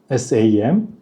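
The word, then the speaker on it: 心: 볼게요음 다르게 읽죠 석삼 자는 saam 이래서 길게 읽어요 싸 싸음 내 마음 신자는 Sam 쌈 쌈 쌈 이렇게 읽죠 어 근데 처음에 제가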